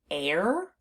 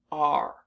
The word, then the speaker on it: are: we pronounce this word r so the unexpected part of this word is the e at the end because it's not doing